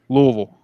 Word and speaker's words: Louisville: i say it the right way it is louisville i was just i just had to